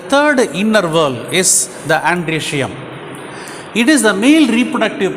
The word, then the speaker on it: androecium: Androecium. Okay, O is silent.